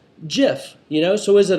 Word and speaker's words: GIF: said and I quote it's a soft G pronounced GIF end of story all